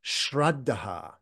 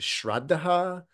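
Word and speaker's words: śraddhā: So the word confidence is this word shreddah and that's the Sanskrit pronunciation.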